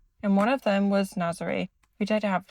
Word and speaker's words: Nazaré: So we packed up 2:30 and headed to, I think I've been saying it wrong, Nazar, not Nazaré. Nazar. Is it Nazar? Yeah. I thought it was Nazaré.